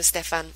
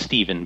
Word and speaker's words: Stephan: So welcome to the show, Stephan. Let's get into the nitty-gritty of this. Great. Thank you so much for having me on. Just so you're aware, it's pronounced Stephen, but...